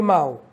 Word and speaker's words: mal: entre mal e mal, o português brasileiro não faz diferença entre o L e o U em fim de sílaba. Então, mal ou maldade. Então, o L em fim de sílaba, como é o caso de mal ou maldade, ele tem som de U.